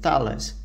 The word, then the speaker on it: Thales: defense company in France called Thales. I believe that's the way it's supposed to be pronounced.